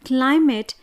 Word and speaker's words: climate: For example, when we pronounce the word climate, the stress will be on the first syllable, that is CLI, and MATE should be unstressed.